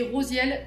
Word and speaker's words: Rasiel: la marche à suivre l'archange Rasiel prononcé Rosiel ce qui signifie secret de